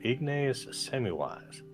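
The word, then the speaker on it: Ignaz Semmelweis: by Joseph Lister or Ignace Semmelweis. I'm repairing a boiler. Mm. I know I didn't pronounce that right because people don't speak English around here, but it's Ignazesemmmelweis.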